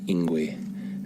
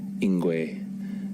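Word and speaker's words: Ingwe: And this animal is called ingu. And it's spelled I N G we. That's I N G W. Inguay. And everyone refers to it as ingu on the radio.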